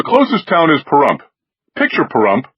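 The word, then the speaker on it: Pahrump: Picture Parump rhymes with dump as was left on the road if a buzzard ate Las Vegas and spit out the bad parts.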